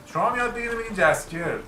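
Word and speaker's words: Jaskier: شما هم یاد بگیریم بگین جسکیر. درستش جسکیره. دندلایان یه اسم ساختگیه که توی ترجمه انگلیسیشه، یعنی توی هیچ کدوم از ترجمه‌هاش من بررسی کردم دندلایان نمیگه، فقط توی انگلیسیش میگه. اون جسکیر توی انگلیسی تلفظش سخته. جسکیر این سخته ولی برای ما راحته.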